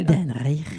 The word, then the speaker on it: Idan Reichel: Idan Reichel. Voilà, tu le prononces mieux que moi.